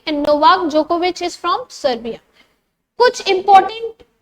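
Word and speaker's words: Djokovic: जोकोविक होता है actually, पर इसका प्रोनाउंसिएशन जोकोविच होता है।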